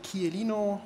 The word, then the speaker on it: Chiellino: My name is Ulrich Chiellino. It's an Italian name, and the pronouncing is like Chianti.